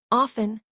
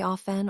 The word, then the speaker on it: often: For centuries. The T was silent. Shakespeare never pronounced it. Neither did Dickens. Then in the 1800s, spelling reformers decided silent letters were confusing. They started teaching the T again. Pronunciation was resurrected by educators who valued spelling over tradition. Today, both versions coexist. Often is considered classic. Often is now common.